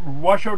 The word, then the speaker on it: Washoe: with William Blair & art George Washoe type Washoe tribe do I have my pronouncing that right yeah for the anti-racist in